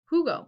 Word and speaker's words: Hugo: you guys yesterday right silent h is in spanish okay two how do